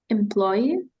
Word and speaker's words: employee: A worker, it's employee. Employee. Так, тільки як трошки наголосом розрізнити employer and employee. На останній склад ви робите наголос, тому що працівник, Окей.